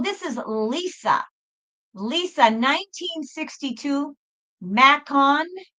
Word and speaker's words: Macon: Lisa, 1962, Macon, M-A-C-O-N, Macon, or Macon, Georgia, U.S.